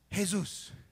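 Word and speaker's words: Jesús: in every language in in Spanish it's hey-zeus in Italian it's Jesu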